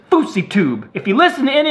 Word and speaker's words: Fouseytube: If you say my name like Fousey or Fousey, I ain't playing with all that. My name is Fouseytube.